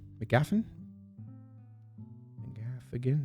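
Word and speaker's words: McGaffigan: pretty cool matt's andy mcgafin mcgaffin and gaff again mcgaff again pronounce all the syllables there swap all right ricky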